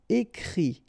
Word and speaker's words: écrit: And then the IT, phonetically you pronounce I because final T is not pronounced, but still. Écrire, to write. Écrit.